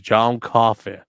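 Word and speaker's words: John Coffey: My name is John Coffee like to drink but not spelled the same.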